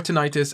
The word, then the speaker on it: tinnitus: annoying if it was so tinnitus or tinnitus again you could pronounce it either way um it's essentially it's